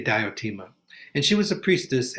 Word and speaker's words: Diotima: a woman from montanea her name was diotima and or theotema probably was the greek pronunciation the d sometimes has a th sound in greek but we say diotima and she was a